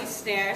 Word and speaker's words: Snaer: Okay, so I'm Snaer, so my last name is spelled S-N-A-E-R. People get the R and the E switched. It's like the drum or the verb, so it's easy for you to remember.